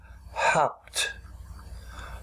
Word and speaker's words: hopped: So we must repeat the last consonant to keep the original sound hop. We write hopped, and we pronounce it hopped, hopped, hopped.